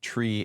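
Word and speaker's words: three: And as a little fun bonus fact, the numbers 3 and 5 are supposed to be pronounced tree and fife. So 0, 1, 2, tree, 4, 5, 6, 7, 8, niner is supposed to be that way.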